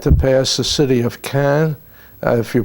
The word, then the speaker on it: Caen: And on the way to Cherbourg, we had to pass the city of Caen, if you pronounce it that way, C-A-E-N, and that is